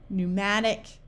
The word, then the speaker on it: pneumatic: At the beginning of a word, if you have PS, PN, or PT, the P is silent, like in the word psalm, pneumatic, pterodactyl, psyche, or pneumonia.